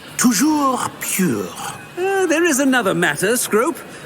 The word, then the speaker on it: Toujours Pur: And, of course, as Master knows, in French. Yes, of course. I order you to pronounce it for me. Oh, Master knows that Scrope's French is most pitiful. Oh, very well. Toujours pure.